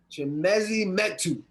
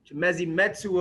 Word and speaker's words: Chimezie Metu: Chimezie Metu. Chimezie Metu of the Sacramento Kings.